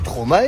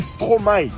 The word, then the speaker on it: Stromae: Attends, je t'arrête tout de suite, tu dis plus jamais ça. Stromae. On dit Stromae, pas Stromae. Oui, mais ça s'écrit avec un E quand même.